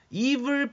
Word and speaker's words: evil: evil person의 발음 잘해야 돼요. evil이 아니에요. evil. 그렇죠? 악마는 devil이지만 나쁜 놈은 evil.